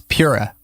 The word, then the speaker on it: Pura: my name wrong it it reads as pure so it's just like uh uh everyone but then immediately everyone like thinks it's Spanish or something like that so they go paa and then all my